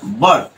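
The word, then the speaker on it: bought: জি এইচ টি যার কারণে এটা কি হয়েছে বট রাইট বট আশা করি তোমরা বিষয়টা বুঝতে পেরেছ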